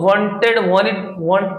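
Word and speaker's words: wanted: ठीक है, इसको वांटेड भी पढ़ते हैं, वांटेड भी पढ़ते हैं, इसके अंदर टी साइलेंट हो जाता है, वांटेड टू सी हर।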